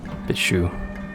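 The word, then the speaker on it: Bitchū: Note the shu at the end. Bichu. It's S-H kind of sound.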